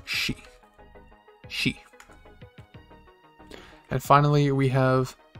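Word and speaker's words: し: hook and that hook captured a poor sill pronounced she she and finally we have uh the first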